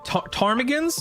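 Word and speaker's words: ptarmigan: Um uh Tarmigans is the P is silent. I assume Tarmigans.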